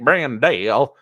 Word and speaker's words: Brandel: side love that and Blake brandelle um apparently that's how you're supposed to pronounce that Blake brandale uh yeah he's back